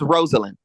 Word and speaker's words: Rosalind: Is that how you say your name? Is it Rosa? How you pronounce it? I'm sorry. Is it Rosalie? But anyway, it's Rosalind. Rosalind.